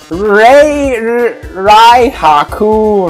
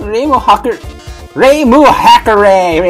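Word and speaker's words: Reimu Hakurei: Everyone, please give a hand for a wonderful contestant, Rai Haku. I should really brush up my Japanese. It's pronounced Reimu Hakare, everybody!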